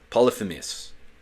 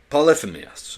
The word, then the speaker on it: Polyphemus: Polyphemus. It's hard for me to pronounce, but I know how to pronounce it. Cut me some slack, gang. Polyphemus.